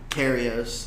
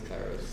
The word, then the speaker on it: Kairos: He said it right. He's just like, it's not Karios. Kairos, yeah, he's super cool.